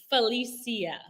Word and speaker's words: Phalisia: right how do you say your name correctly Felicia Felicia okay it is so unique my name is Kamisha but my name is pronounced Kamisha I sto correcting people it takes